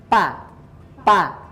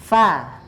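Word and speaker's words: ف: dibaca Fox sama Va nah bacanya kalau nyata ada menghembuskan angin sedikit ya Va nah nah bukan sepertinya bacanya pa-pa kayak gitu ya tapi Va Nah itu kan ada gembusan sedikit ya Va Va Nah jadi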